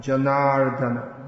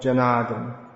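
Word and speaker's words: जनार्दन: Govardhan, Janardana, not Janardhan. Not Janardhan, Janardana.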